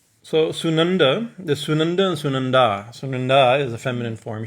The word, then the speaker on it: Sunandā: So Sunanda, the Sunanda and Sunandā. Sunanda is a feminine form, she who in this form, right? Sunanda means pleasing or delightful, right? And Sunanda with a long A at the end, right?